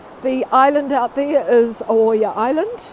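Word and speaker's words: Oaia: i can see the island out there is oya island spell it o a i a oh good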